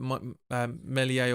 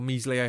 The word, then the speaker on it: Meslier: But Meslier or Meslier, however you pronounce it, Meslier is Meslier, so I should say.